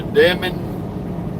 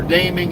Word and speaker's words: Deming: They must be loaded down like a Now, welcome to Deming Deming or Deeming, however you want to pronounce in New Mexico.